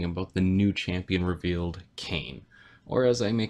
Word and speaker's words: Kayn: to be talking about the new champion revealed cane or as I may call them when people pronounce his name differently than what I say